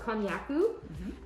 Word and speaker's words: konjac: It's called Konyaku. It's spelled Konjack, or just Cu, cognac.